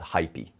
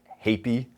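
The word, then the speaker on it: Heipi: from a company called Hypy. I'm sorry. HP. Uh I asked them how their pronunciation was. I want to say hyp. Uh they say think of hapy like happy.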